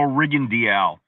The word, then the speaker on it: Rigondeaux: The way his name is spelled, it looks like Rigondeaux, right? But I went to him and he said, my name is Guillermo Rigondeaux. I said, Rigondeaux. Sí, Rigondeaux. No Rigondeaux. No, Rigondeaux. Okay, thank you.